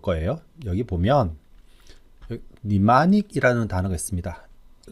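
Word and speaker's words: mnemonic: 여기 보면 니마닉이라는 단어가 있습니다. 첫 글자 m은 무음이에요. 그래서 m은 발음 되지 않고 발음이 니마닉이라고 합니다. 니마닉은 우리 한국어로 기억하기 좋은 거예요.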